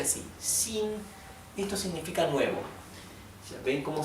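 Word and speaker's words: xin: x en el piñin la x se pronuncia como una sh inglesa así pero un poco más tendiendo a una s y en algunas partes de China directamente lo pronuncian como una s más suave sí por ejemplo la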